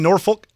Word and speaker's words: Norfolk: well it would be nor folk it would not be they would not be called nor folks no it's norfolk the l is silent well here's the thing